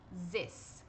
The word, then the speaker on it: this: Por exemplo, essa palavra this, a gente vai pronunciar como se fosse this, com Z, e vai escorregar um pouquinho a língua para causar essa vibração ali entre os dentes. Então, z, esse é o som. This, this, z, z, z, z, this.